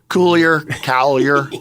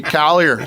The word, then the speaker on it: Coulier: It gets mispronounced more than it gets misspelled. Yeah. Coulier. Hey, Coulier.